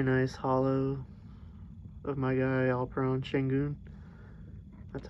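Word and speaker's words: Alperen Şengün: got a very nice hollow of my guy all prone shingoon that's how you say it i really like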